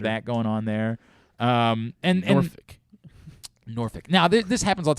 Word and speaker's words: Norfolk: I always say Norfolk. Much like the word folks. Yeah. They say Norfolk. Norfolk. That's how they say it.